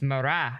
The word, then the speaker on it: Marat: No, it's it's Marat. You don't It's not a hard T.